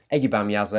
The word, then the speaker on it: Ege Bamyasi: we go any further eggy bam user is a turkish word it's quite difficult to say there are many different ways people seem to pronounce this record this is the way I'm going with I've done my research and this is what I've ended up on let's not have